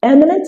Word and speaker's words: eminent: It is important to take note that all these words has the stress on the very first syllable. Now, eminent is used to describe